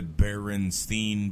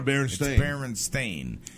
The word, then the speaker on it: Berenstain: with certain things like the Berenstein bears like that was just a min see that right that's a mispronounced bear yeah mispronunciation Stein so somebody you know just pronounced nono herons thing the Berenstain and it and it's